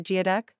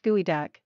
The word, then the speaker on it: geoduck: you know that the geoduck pronounced gooey duck is a large clam